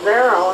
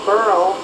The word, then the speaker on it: Beryl: But then they pronounce it Beryl instead of Burl. That's the southern rednecks that started pronouncing it Burl. So we have two different pronunciations.